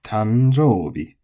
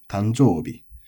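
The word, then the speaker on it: 誕生日: Then you get the tanjoubi, which like the other... and then we get the tanjoubi, which is nakadaka tanjoubi. Accent on the jo, tanjoubi.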